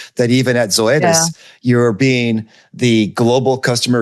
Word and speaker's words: Zoetis: was um I I'm going to get the name wrong, Zoetis? Is that how you say the name, Zoetis?